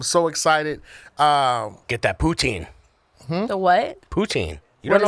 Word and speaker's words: poutine: Oh, like pouting like Yeah, kind of like that but with a different py tang.